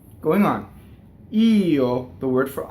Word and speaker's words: Io: You see how small the O is. Io.